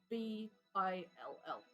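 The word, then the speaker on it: Jbill: point here spell j b i l l thanks for spelling it now I know what to write J is silent no Bill Bill J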